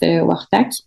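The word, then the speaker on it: Quaqtaq: Donc ça s'écrit Quaktac mais ça se prononce Wartac.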